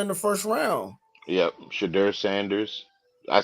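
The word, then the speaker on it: Shedeur: black quarterbacks drafted in the first round yep chidur Sanders I said it right this time Sanders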